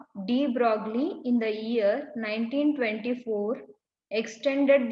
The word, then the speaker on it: de Broglie: Here we will be writing it as a de Broglie, but we have to pronounce it as a de Broglie.